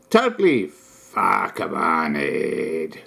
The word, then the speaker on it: PHAKAMANIED: Totally PHAKAMANIED. The emphasis on the second part, moneyed.